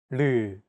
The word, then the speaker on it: 르: This consonant is often romanized as an R or an L, but there isn't an equivalent sound in English. 라마. This sound is actually somewhere between an L and an R sound.